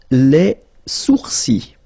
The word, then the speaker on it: sourcils: Les sourcils. Okay, so it's quite strange because you get this LS at the end, but then, well, you don't pronounce them.